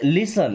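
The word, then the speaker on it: listen: हम will लिसन यहां पे टी साइलेंट है ना?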